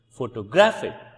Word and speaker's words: photographic: other word which is photographic photographic photographic so the first stress the primary stress go shifts from first syllable to the second syllable which is graphic at graphic whereas the